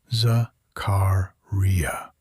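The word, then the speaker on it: Zakariyya: More importantly, she warned Rebecca to pronounce his name correctly, Zakaria, and to never ever call him Joe.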